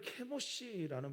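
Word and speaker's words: כמוש: 이제 후에는 이제 밀곰이 되는데 그 모스라고 하는 히브리어는 케모시라는 발음입니다.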